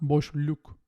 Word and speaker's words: boşluk: And with back vowels, we use the dark L. Yol, not yol. Yol. Tulum, not tulum. Tulum. Boşluk, not boşluk. Boşluk.